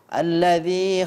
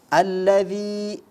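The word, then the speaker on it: الذي: jelas terdengar ya Nah kemudian alladzi alladzi itu Kedengaran huruf dzalnya dibaca menjadi Zai ya Kemudian pada saat membaca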